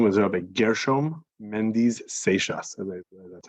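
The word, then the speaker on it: Seixas: cute um his name was Robert gershom Mendes seishas that's how you pronounce it last time um and there are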